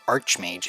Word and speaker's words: Archmage: We're going to speak with Archmage Cedrador, or Archmage if you want to pronounce the CH like a CH instead of a C.